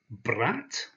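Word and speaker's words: брат: already we have this word here which is pronounced brat and but that is a very appropriate word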